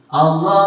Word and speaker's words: Allah: Allah setelah kasroh tipis bacanya walillahi. Allah setelah fathah dhammah tebal bacanya alallahi kitabullahi.